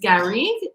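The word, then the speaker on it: garrigue: so this is um the label is gary this is how this is pronounced gary is the name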